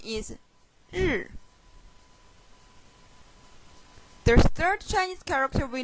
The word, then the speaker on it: 日: The pronunciation is 日.